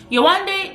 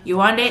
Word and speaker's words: Yewande: remember yowanda's name now yowande is nigerian yuande is yoruba like me yuwanda's name is yonde when you look at it it's literally said how it's spelled and if you can't even get maybe the date part maybe you'll say you want d but it's still like